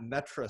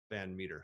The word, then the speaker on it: Van Metre: on twitter at uh even though it's it's mispronounced this at metra m-e-t-r-e-even though it's actually band meter so there you go you're uh your fans